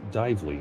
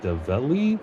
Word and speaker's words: Dively: It's Dively and it's like Develi, which I'm so used to.